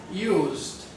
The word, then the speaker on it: used: Well, as a verb, the verb use sounds like z, z. Use. That is, sounds like a Z, as in zebra. So therefore, it is a voiced consonant. And if we put it in the past tense, it's going to sound like a D. Used.